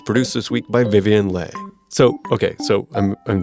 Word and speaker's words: Le: Vietnamese American yeah so the traditional pronunciation of the last name Le is Lay but I'm used to calling myself Lee l-e because growing up